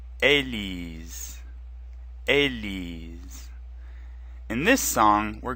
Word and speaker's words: Élise: Ellie's Ellie's is a female name and it's pronounced a Li's repeat after me Ellie's Ellie's Ellie's in this song we're gonna hear the